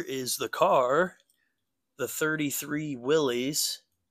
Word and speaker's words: Willys: But here is the car, the 33 Willys. Pardon me if it's pronounced Willis. I think it's Willys, but I've heard both, so correct me if you know for sure.